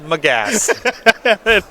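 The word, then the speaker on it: Magus: moon made the gas the gas is pronounced my gas - what do you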